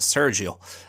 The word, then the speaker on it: Sergio: And that is from Sergio, or as we'd say in Ireland, Sergio. I'm sure Sergio or Sergio, you're maybe sick of people pronouncing your name wrong in Ireland.